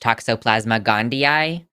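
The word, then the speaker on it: Toxoplasma gondii: conservatives M Forest apparently was adamant that it's pronounced Toxoplasma gandia which makes sense CU it have two eyes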